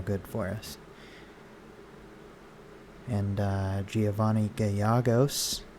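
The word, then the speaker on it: Giovanni Gallegos: for us and uh giovanni gayagos i think his name is pronounced so i was just watching a cardinals game today and uh i'm pretty sure i heard an announcer say his name like that so that helps me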